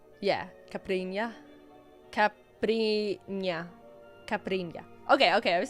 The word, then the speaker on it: caipirinha: Yeah, the strawberry caipirinha. Yeah, caipirinha.